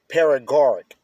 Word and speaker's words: Paregoric: Paragoric. It's spelled Paregoric.